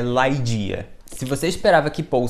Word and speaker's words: Ligeia: Allan Poe dia sim a pronúncia correta desse conto em inglês no original é laidia mas como escreve dessa forma parecendo Lígia vamos falar de Lígia